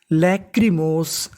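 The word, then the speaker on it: lachrymose: क्योंकि आखिरी में इ है। इ का उच्चारण नहीं करना। तो पूरी मीनिंग लैक्रीमोस।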